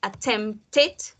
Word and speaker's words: attempted: Cuando las palabras terminan, cuando su último sonido es una T o una D, siempre van a sonar al final id. Entonces aquí es el único caso en el que sí pronunciamos la E, pero no la vamos a pronunciar como E, sino como I, como E. Needed, attempted, started.